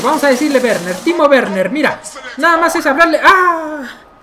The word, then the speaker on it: Werner: minuto 24 por cierto yo le digo werner como se pronunciaría no sé en español pero realmente en alemán es verde como si tuviera un ave no una w pero bueno ya le